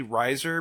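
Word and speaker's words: Reiser: It's actually Riser because they spelled it wrong because everyone was So convinced how do you spell it?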